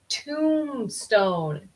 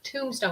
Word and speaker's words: tombstone: house and number six Tombstone Tombstone all right so this is uh with a silent B it's that ultimate Tombstone so Tombstone we don't want to say tomb Stone Tombstone Tombstone silent B all right has one